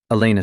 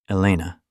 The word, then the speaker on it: Elena: Elena. He tested her name on his tongue, seeming to like the sound, the way it rolled off with that slight emphasis on the second syllable.